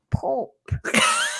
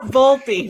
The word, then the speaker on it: Volpe: Somebody's saying, shout out to Pope. No, Volpe, not Pope.